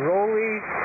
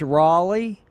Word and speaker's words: Roly: girls tonight and and how do you say your name rolly rolly what's the proper way because everybody wants to know if you're South of the Border it's Raleigh because they tend to change the vowel or something